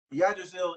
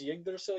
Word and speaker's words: Yggdrasil: Like he Oh, you're saying it wrong. It's Yggdrasil, you dick, you yeah, fucking nut. whatever. I'm black. I don't have proper fucking English speaking. That's Norse.